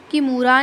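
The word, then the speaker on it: Kimura: चलो बताओ जल्दी कौन सा होगा इसमें किमूरा किमूरा कुछ-कुछ लोग इसको कैमूरा भी बोलते हैं तो वो आपके ऊपर है कि आपने इसको कैसे प्रोनाउंस करना है।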